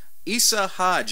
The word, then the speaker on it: Isa Hodge: So, Isa Hodge, I am pronouncing that correctly, right?